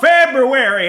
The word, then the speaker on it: February: general, but by the time February, it's called February, always has been, say it right or don't say it at all.